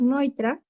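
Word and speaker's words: Neutra: Eh, aunque dice neutro, se pronuncia Richard Noitra.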